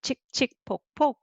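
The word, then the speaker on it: 칙칙폭폭: 칙, 치 plus 이, 치, and 그 underneath and double. Okay, 칙칙. And then 폭, 폭 is 푸 plus 오 and 그 underneath and again the same syllable.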